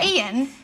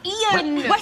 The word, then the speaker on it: Ian: their own like CRA they call Ian like someone called Ian they call I like no it's two syllables Ian say two syllables I no so that's